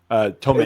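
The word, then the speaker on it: Tomić: I'm assuming it's Daniela Tomic. Tomic. It's just Tomic.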